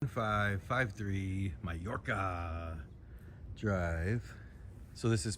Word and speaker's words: Mallorca: 553 Mayorca Drive. So this is spelled M A L L O R C